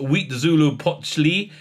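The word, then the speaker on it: Huitzilopochtli: chapter three the sun king chapter four uh pronounced wheat zulu pochli uh chapter five into the fire in chapter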